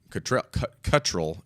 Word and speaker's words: Cuttrell: supposed to pronounce the emphasis on the first part, not the second part.